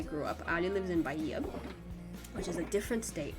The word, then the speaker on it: Bahia: Bahia. The H is silent in Portuguese. Bahia.